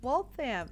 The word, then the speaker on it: Waltham: Oh, Waltham. So, uh like wall and then t h instead of it Yeah. t h a m, so fam. Trust me, there are some towns around here I can't pronounce properly.